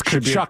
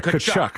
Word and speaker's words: Tkachuk: It's Tkachuk, by the way. The T is silent. Yeah, Tkachuk.